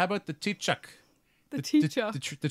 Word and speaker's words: Taoiseach: Sinéad and be like, so how about the Taoiseach? The tree chuck?